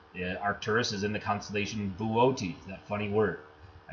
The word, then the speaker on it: Boötes: Okay, and then Arcturus is in the constellation Boötes, that funny word. I said, yeah, it looks like you spell booties out there.